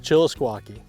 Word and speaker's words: Chillisquaque: Let's start with the lake we're at because I'm going to mispronounce it. What lake is this? Lake Chillisquaque. Chillisquaque.